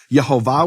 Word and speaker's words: Yehovah: Yhovah with the full vowels. That was known to be the pronunciation of his name.